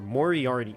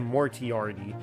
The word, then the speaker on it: Moriarty: name Morty already or Moriarty well I said more TRD like I mispronounced it when I first saw it myself so like where have